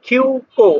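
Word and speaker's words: 急行: তারপর হচ্ছে কিউ কিউ কো, আমি এটা আগেই বলছি যখন এরকম এই যুক্ত বর্ণের সাথে উ থাকবে উর উচ্চারণটা উচ্চ থাকবে, তাহলে কি হলো কিউ কো।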